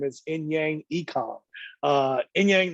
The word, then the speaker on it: Inyang Ekong: me her name is inyang ekong uh in yang not always technically say your first name wrong but what's the correct way to say your name it's ian kong ian kong okay so you gotta